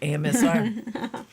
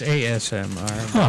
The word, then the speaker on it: ASMR: We can make a side project, AMSR. It's ASMR.